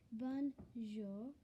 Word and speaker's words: bonjour: And it does sound a little weird how it's spelled like that, because it actually doesn't sound like that. Bonjour. bonjour. And instead of saying it like this, bonjour, it's actually bonjour with a short R.